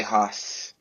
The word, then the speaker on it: Hus: J and then Hus, like Hush.